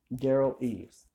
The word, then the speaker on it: Derral Eves: That's Dearl Eves. Derral Eves.